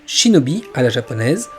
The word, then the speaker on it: shinobi: Ce kanji signifie caché et endurant, et il peut se prononcer de 2 manières, shinobi à la japonaise ou nin à la chinoise.